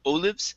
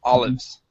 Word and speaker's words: olives: Okay, with an ah sound at the beginning instead of olives, it's olives. Olives.